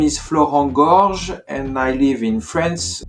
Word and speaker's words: Florent Gorges: I'm not good at pronunciation, so I will let him do it. So my name is Florent Georges and I live in France, and I'm actually a translator from Japanese to French.